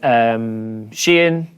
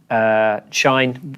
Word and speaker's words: Shein: you look at what's happening with Shein, Shine, we still all have different ways of pronouncing that. It's just, we all know which one it is.